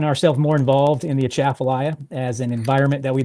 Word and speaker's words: Atchafalaya: It's a Atchafalaya. So you want to say it like you're about to sneeze. So it's Atchafalaya.